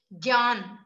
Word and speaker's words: ज्ञान: ज्ञ का उच्चारण हिंदी में आधा ग और य से होता है, जैसे ज्ञान, ज्ञान को हम ज्ञान